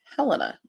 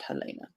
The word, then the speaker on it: Helena: Of course, if this were Montana, the capital is Helena, not Helena, but it's spelled the same way. I will say Helena.